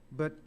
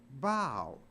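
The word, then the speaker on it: bough: pronounced bu it's pronounced bow so even though a and there the o u g is pronounced like a long o o i f from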